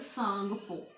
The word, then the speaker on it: Tsangpo: Brahmaputra river is called Sangpo. ठीक है, Brahmaputra river का नेम जो तिब्बत कंट्री में वो क्या है, सांगपो. ये देखिए, this is the spelling TSANGPO. सांगपो, T is silent.